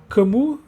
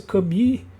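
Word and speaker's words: Camus: Eh, a praga pelo camu que eu falo camu, a pronúncia certa, na verdade, deve ser cami, mas bem, eu sou brasileiro, então vou pronunciar camu.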